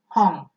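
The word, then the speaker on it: 本: di situ adalah home3 kita sudah belajar bahwa at di belakang itu dibaca Al sehingga tulisan ini kita bacanya hong hong hong Hai kemudian kalian dilihat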